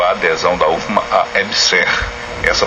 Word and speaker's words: EBSERH: Justiça suspende convênio entre UFMA e Ebser. Isso. E professora, eh, diz assim a notícia, uma limina pedida pelo juiz federal José Carlos do Vale Madeira suspendeu a adesão da UFMA a EBSER. Essa pronúncia EBSER, isso.